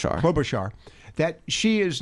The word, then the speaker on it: Klobuchar: You said Klobuchar, as pardon me, pronounce her last name. Klobuchar.